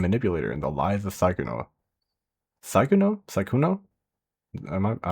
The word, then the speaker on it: Sykkuno: Second pronunciation was right. Psychono.